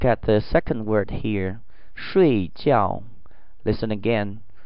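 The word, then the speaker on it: 睡觉: 睡觉睡觉睡觉. Please pay attention to the tones here. There are 2 falling tones in the same word.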